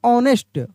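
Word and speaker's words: honest: इसको हम लोग पढ़ेंगे ऑनेस्ट। ऑनेस्ट नहीं पढ़ेंगे। यहां पर एच जो है साइलेंट लेटर है।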